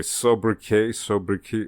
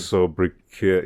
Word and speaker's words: sobriquet: Sobriquet, right? Okay. I think the T is silent in that case.